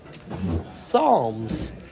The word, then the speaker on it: Psalms: What's the P doing there? Psalms.